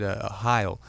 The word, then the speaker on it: Sohile: I said, Heil. And she goes, oh, Heil. Like Heil Hitler. And I just said, unfortunately, that is correct. That's exactly how it's pronounced there.